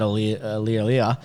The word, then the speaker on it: Aliir: It will be extremely weird, but the thing that is really exciting about Aliir, sorry, I didn't stutter then, that's actually, that's how you pronounce it, is, again, he's in that bracket,